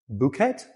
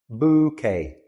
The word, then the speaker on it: bouquet: Bouet. No, bouquet. The e ending in French words is pronounced a. So, it is bouquet.